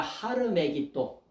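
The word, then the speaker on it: Har Megiddo: 아마게돈 전쟁이라고 하는 거야 아마게돈 아마게 돈이라고 하는게 뭐냐 하르 메기도 전혀 발음이 전혀 생뚱 맞죠 하루 메기도 메기도 산이란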